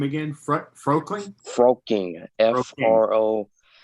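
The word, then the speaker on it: Frolking: and became one star general connor this jim pronounced his last name again fr fro queen froaking f-r-o-l-k-i-n-g how did you get in contact with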